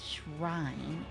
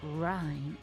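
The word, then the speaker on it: Rhine: is not pronounced Abyss Shrine. It's Ry. R H I N E. Not H R I N E.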